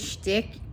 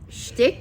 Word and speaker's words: shtick: yes and then he said that's somebody else's stick schtick is how you say it yeah like you're